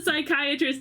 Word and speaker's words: psychiatrist: Why can't you hear the psychiatrist use the bathroom? I've heard this one before. But it's usually pterodactyl. Why can't you hear the psychiatrist use the bathroom? Because the P is silent.